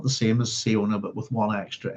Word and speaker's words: Siona: who I've been calling SIona for a long time. And it's quite possible that that's not how we pronounce her name. It's quite possible that it's Shana.